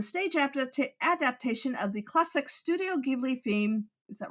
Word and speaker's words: Studio Ghibli: She starred in the stage adaptation of the classic Studio Ghibli theme. Is that right? Studio Ghibli? Studio Ghibli, but film is pronounced film.